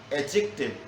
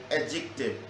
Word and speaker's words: adjective: The word is adjective. Here the sound D is silent.